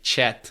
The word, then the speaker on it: chat: Uh chat yeah there's no ah because we don't have that. So you would say chat chat there's e uh or